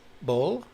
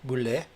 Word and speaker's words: Boulle: This reminded me of part of the novel by Pierre Boulle, or Boulle, depending on which pronouncer on the web you use.